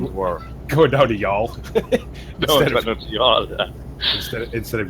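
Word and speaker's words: Youghal: certain County Cork beach and be able to pronounce it and stun the world. Going down to y'all. Yeah. Instead of Yogel.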